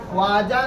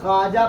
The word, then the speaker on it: خواجہ: اس کو خواجہ نہیں پڑھا جائے گا بلکہ خواجہ پڑھا جائے گا۔ کیا پڑھا جائے گا؟ یہ واو لکھا تو رہے گا لیکن اسے تلفظ کے دوران ادا نہیں کی جائے گی۔ اس واو کو واو